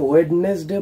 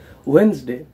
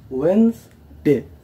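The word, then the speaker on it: Wednesday: আমাদের পরবর্তী ওয়ার্ডটি হলো ভেরি সিম্পল, এটাকে অনেকে ওয়েডনেসডে বলে, কিন্তু এখানের এই বিটা সাইলেন্ট, এটার উচ্চারণটা হয় ওয়েন্সডে, ওয়েন্সডে।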